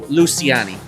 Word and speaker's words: Luciani: And by the way, thank you for telling me what her name actually is pronounced like. So now I know, Luciani.